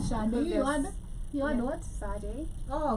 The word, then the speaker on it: Sade: He said Sade. You had what? Sade. Oh, me, I had Sade. Sade. That's how it's pronounced.